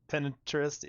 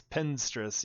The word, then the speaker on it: Pinstress: for like beastflies pin pinterest. Yeah, it's pinstress. Yeah, I say I definitely say it wrong, too.